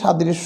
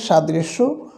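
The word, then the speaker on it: ص: পারলে এটির উচ্চারণটা ঠিক হয়ে যাবে আর এটির উচ্চারণটা সাধারণত আমাদের ভুল হয় না শুধু মাখরাজটা জেনে নেওয়া যেহেতু এটারই সাদৃশ্য আরেকটি হরফ রয়েছে তাই এটি নিয়ে আমরা আলোচনা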